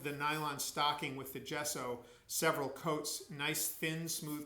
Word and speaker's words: gesso: with a special base coat of paint called gesso that's spelled g-e-s-s-o gesso is a special kind of